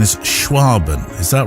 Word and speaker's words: Schwaben: you're a well I was going to say swabian but the correct pronunciation is schwaben is that right photographer a region of Southwest